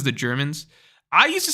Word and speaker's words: Germa: I think I'm right Jordan Taylor says the Germans I used to say gurma and then everyone told me it's wrong they